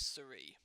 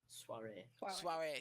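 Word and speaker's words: soirée: Why does your associate need extracting from this Suri? Sorry if I'm mispronouncing that, by the way. Soiree.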